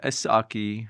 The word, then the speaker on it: Esshaki: Yeah, Esshaki, but you can call me whatever. Yeah. So, well, that's the thing is, it's an English pronunciation of Chaldean name?